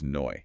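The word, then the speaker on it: neu: Hoyt, meaning today, pronounced hoyte, or new, meaning new, is noi.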